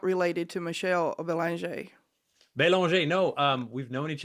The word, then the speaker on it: Belanger: And I thought about my last name, which I do pronounce Belanger, Not Belanger. but when I'm in France, it's Belanger.